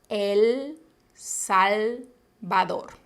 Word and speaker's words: El Salvador: un agua presten atención la l siempre es un sonido alveolar si el salvador siguiente españa recuerden que